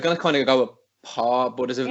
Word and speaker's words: Pauw: Then how do you pronounce her surname? Pauw. I was gonna kind of go with Paw, but there's a W in there, and I